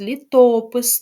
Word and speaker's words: літопис: наголос на останній склад літопис на другий і гуртожиток також на